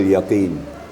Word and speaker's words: يقين: ayat yang kelima, ilmal yaqin. Qafnya apabila baris di bawah kemudian diiringi dengan ya sukun, maka qaf itu lebih tipis. Ya, bacanya lebih tipis. Jadi cara bacanya ilmal yaqin, yakin, jangan terlalu besar ya, tapi tipis.